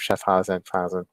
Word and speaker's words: Schaffhausen: They're out of Schaffhausen, Schaffenheisen, Switzerland, the German speaking part of Switzerland. So that's part that they're in play. They're play. Anything out of Schaffhausen is it's gonna be part of the German